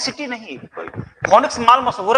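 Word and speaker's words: Phoenix: फोनिक्स city नहीं, फोनिक्स माल मशहूर है, फोनिक्स सिटी नहीं मशहूर है। हाँ, जिसको फिनिक्स बोलते हैं हम लोग, सही प्रोनाउंसिएशन फिनिक्स है।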